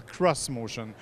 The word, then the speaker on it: xMotion: choses tout de suite ça s'écrit ex motion manie sans insiste pour que l'on appelle le cros motion pourquoi parce qu'en fait